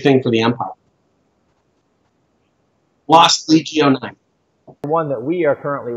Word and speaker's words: Legio: Lost Legio 9. Lost Legio 9. We've been debating how to pronounce the Legion with a missing N for 3 days. Well, that's how the Romans pronounced it.